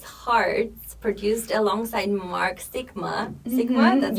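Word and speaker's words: Sixma: your song Restless Hearts produced alongside Mark Sigma Sigma that's how you pronounce it received um REM a remix from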